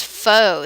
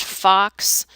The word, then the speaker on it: faux: progeny Laura and Douglas next is foe this is a a French word it's not pronounced Fox here's our sentence the